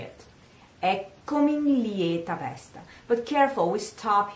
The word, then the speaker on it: lieta: Eccomi in lieta vesta. But careful, we stop here, because lieta should be pronounced lieta. Diction would tell us to say lieta with this open A.